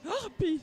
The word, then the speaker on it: Harpies: Harpies, on dit les Harpies visiblement. Alors il faudra quelqu'un de Pibrac pour nous confirmer que le H se prononce bien. On peut peut-être dire les Harpies sinon, avec un H aspiré.